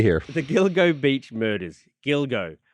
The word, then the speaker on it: Gilgo: the Gilgo Beach murders Gilgo I always mispronounce that word but it's Gilgo isn't it I think it is Gilgo and it sounds too